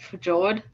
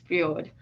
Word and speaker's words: fjord: It looks like fjord, but it's pronounced fjord.